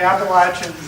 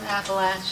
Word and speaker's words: Appalachia: But some parts of the Appalachians, they claim that there were 50% chestnuts.